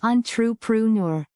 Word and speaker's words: entrepreneur: Pronounced on-tre-pre-neur.